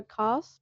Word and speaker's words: Kast: So Cast, it's spelled with a K.